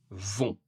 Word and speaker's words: vont: Pour la troisième personne du pluriel, ils, elles, vont. Ils, elles, vont. On ne prononce pas le T, mais tout le reste, le son on.